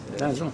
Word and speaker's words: Basel: Described as the coin of the century at the money fair in, is it pronounced Basel, Switzerland? Yeah. Basil, yeah.